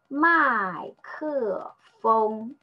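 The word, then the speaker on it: 麦克风: Okay, this one is ke e ke my ke. The last one is fu eng feng my ke feng.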